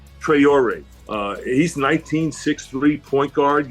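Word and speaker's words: Traoré: Trayor. Trayor.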